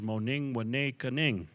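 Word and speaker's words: Mooningwanekaaning: It was renamed Madeline Island because the French couldn't say what the Ojibwe people called it, which is pronounced in our language Moning Wane Kaning.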